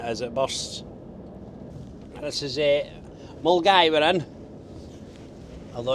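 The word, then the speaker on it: Milngavie: What's Mulgavi? This is Mulgai.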